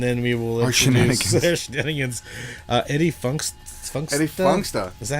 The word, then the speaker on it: Eddie Funxta: Eddie Funxta. Eddie Funxta. Is that how you pronounce it?